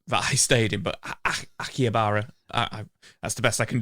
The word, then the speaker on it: Akihabara: And I always butcher the name of the area that I stayed in, but Akihabara, that's the best I can do.